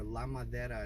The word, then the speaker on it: Ladera: it's called Ladera or Ladera is how it's pronounced in Spanish Ladera means the wood